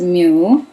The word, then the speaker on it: mu: so we can say nanometer which means 10 negative 9 of a meter so micro which is this is Mu okay pronounce this as Mu and it's 10 negative 6.